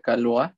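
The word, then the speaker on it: Caillois: el trabajo de Roger, creo que se pronuncia Calois, o bueno, el que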